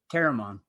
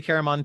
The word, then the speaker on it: Caramon: Caramon. Yeah, I say Caramon too.